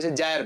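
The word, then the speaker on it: gyre: एक चक्र होता है गायर या कुछ लोग जायर भी पढ़ते हैं depend how you pronounce it कह र क्या कह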